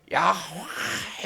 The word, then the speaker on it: 야훼: 그리고 이 발음은 아주 대한 발음인데 야훼 이런 발음을 합니다. 이게. 그래서 야훼라고 하는 거예요.